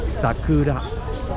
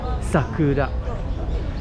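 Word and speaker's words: 桜: a little bit funny in japanese the proper way to pronounce it is sakura sakura it's not sakura or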